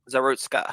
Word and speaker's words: Zarutska: I don't know how to pronounce her name though, because I don't speak Ukrainian. It's like Irina Zarutska. Zarutska.